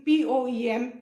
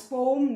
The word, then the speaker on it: poem: Now you all also start pronouncing P-O-E-M as poem, not poem.